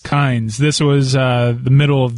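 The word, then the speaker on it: Kines: here that Joe Kine, is it Kine or Kynes, the interim coach at Alabama? Doesn't he spell it with an S? Kynes.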